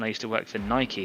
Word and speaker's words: Nike: But it's not supposed to rhyme with bike. It's a Greek word. It's a Greek name. The goddess of victory. Nike.